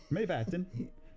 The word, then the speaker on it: Mývatn: the lava formations of Dimorborgir, located in the Mývatn area in northern Iceland. Dimorborgir. Mývatn. Myvatn. It looks like it's spelled backwards almost. It's Mývatn area of northern Iceland.